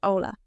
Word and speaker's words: hola: But in Spanish, H is always silent. For example, hola, hello, is pronounced hola.